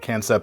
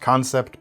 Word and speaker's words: Kansept: And really, for long the longest time that's been what Kansept has done so well. I keep saying Kansept I'm sorry. I know it's supposed to be it's pronounced concept.